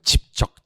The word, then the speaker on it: 집적: 한다고요 집적 비업 기억입니다 집적 발음 잘 안 되시는 분들은 왜 좀 집적 대지마 할 때 된 소리 발음을 어 그냥 발번 하시면 안 돼요 직적 직적 렇게 기억을 하시면 됩니다 별걸 다 알려주는 착한